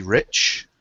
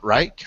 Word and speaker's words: Reich: We have with us today um special guest Rich, not Reich Rich.